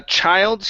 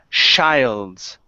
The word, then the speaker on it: child's: all right so uh child's here this was this was much better okay but this first one here you said Childs okay so give me a good CH here this is J child's Child's Play Child's Play